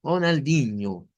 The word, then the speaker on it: Ronaldinho: Como Ronaldinho o como Juninho, ese ño, ¿vea? Que suena de esa manera.